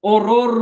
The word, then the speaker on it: horror: Hay que pronunciar la H. No es horror movie. No, it's horror movie.